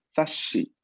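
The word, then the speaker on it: 雑誌: Que muchas de las veces, pues, en este caso, cuando al momento de pronunciar doble S, pues no pronunciamos realmente doble S, sino doble sh, ¿no?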